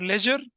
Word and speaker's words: ledger: कहते हैं क्या, LEDGER, लेजर accounts. लेजर accounts कहते हैं, जिसमें डी साइलेंट होता है, लेजर अकाउंट्स कहते हैं।